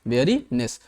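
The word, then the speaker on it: weariness: ठीक है ना, वेयरीनेस प्रोनाउंसिएशन कीजिएगा। देखिए WEARI, वेरी हो गया, इसको आधा कीजिए बेरी, और ये हो गया नेस, वेरीनेस।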